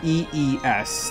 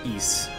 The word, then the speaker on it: Ys: no it's more like EES that's how you pronounce it so ES like long e with an S at the end wise but yeah